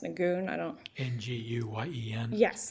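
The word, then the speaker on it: Nguyen: based on the argument i'm going to pronounce the case win because that's how i was told it was pronounced nagoon i don't know n-g-u-y-e-n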